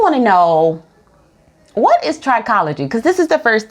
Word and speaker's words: trichology: first we really want to know what is trichology because this is the first time I'm ever